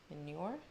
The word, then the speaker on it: Mjolnir: Paul Loco said maybe Loki somehow shows up where Thor gets the new Mjolnir? How do you pronounce it?